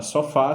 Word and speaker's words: sofá: A palavra sofá, ela é oxítona. Então, a palavra oxítona, ela vai ter, por obrigação, que a sua última sílaba seja a mais forte, ou seja, a tonicidade esteja na última sílaba, tá?